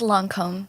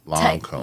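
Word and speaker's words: Lancôme: It's Lancome. Lancome. Yeah, that's the way to pronounce it.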